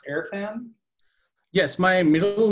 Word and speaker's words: Irfan: dad yeah so is it is your name pronounced airfan yes my middle name is airfan and i'm from pakistan okay so usually in